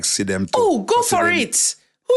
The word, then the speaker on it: Sidem: No, it's Chidem. No, Sidem. There used to be a girl in my school with about same spelling, and it's called Chidem. Her name is spelled Sidem. Sidem. Okay? I've researched it and I make sure me get the name right because my name won't come for the podcast and can call her name wrong.